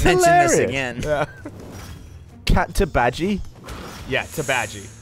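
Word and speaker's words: Teebagy: So, it's Tabaji, which is spelled like tea bag with a Y on it. Well, no, it's T-E-E-B-A-G and then Y. So everyone called her cat Teabaggy, and she said, no, it's Tabaji.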